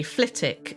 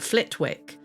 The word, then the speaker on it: Flitwick: And I'm going to pronounce the wick, but no doubt if this settlement existed today, we'd say Kinick, like we say Flittick and not Flitwick.